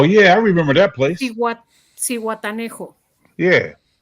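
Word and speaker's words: Zihuatanejo: Yeah, How do you pronounce games this in one, Mexico, USA, and How you- Canada? Cihuatanejo.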